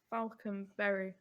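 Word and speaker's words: Falkenberg: So I think they pronounced it Falconberry at the time, like without the G.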